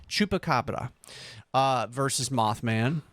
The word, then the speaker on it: chupacabra: do you say that Chupa Chuka Cabra chupacabra chupacabra with the p chupacabra uh versus Moth Man